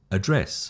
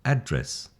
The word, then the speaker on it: address: refuse or refuse, address or address, content or content. So you see the emphasis is the noun, the first syllable, the verb is the second syllable.